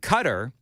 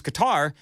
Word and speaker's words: Qatar: I've used the term Qatar. I' I'm going both ways. And it goes both ways. If I use if if I use uh cutter, people say, "You're not saying it right." And so then if I use guitar, people are say, "Oh, you're just trying to be fancy."